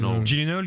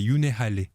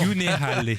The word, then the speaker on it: Gyllenhaal: Gyllenhaal. Je crois que la vraie prononciation c'est Yunehale. Parce que c'est un Non. nom suédois.